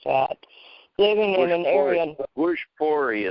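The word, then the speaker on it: Bhojpuri: Bushpori is how they pronounce it. Bushpori. Bushpori. Thank you. There you got it.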